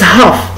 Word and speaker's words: half: 10، ولا كنقولوا it's half، it's half. هاد ال we don't pronounce ال، ما كنطقوش اللام، كنقولوا it's half، it's half، half. Half because we don't pronounce L، ما كنطقوش اللام.